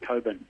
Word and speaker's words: Cockburn: Coburn. Yeah, Cockburn. It's spelled, it's pronounced Coburn.